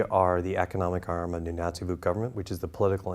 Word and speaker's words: Nunatsiavut: You chair the board of the Nunatsiavut group of companies. Yes. Did I pronounce that okay?